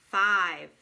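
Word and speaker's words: five: Here's another word with a magic E at the end. Long I. I. No sound for the E. I. 5.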